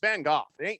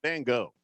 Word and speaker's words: Van Gogh: which by the way that's the proper pronunciation it's van gogh van gogh you can go bang